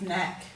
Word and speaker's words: knack: So we've got knoll, knave, knack, need and knapsack. We've covered the other silent K words previously. So you can see in these words that frequently we use the silent K before an N.